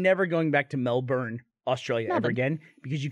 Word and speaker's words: Melbourne: Never going back to Melbourne, Australia ever again because you can't say it right.